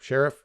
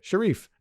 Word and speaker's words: sheriff: Like they just, it should be like sheriff, like it should be more of like a salute, and it's like a Sharif.